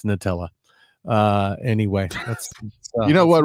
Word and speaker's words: Nutella: Tell them how you pronounce Nutella. Nutella. It's Nutella. And the founders of Nutella would tell you it's Nutella.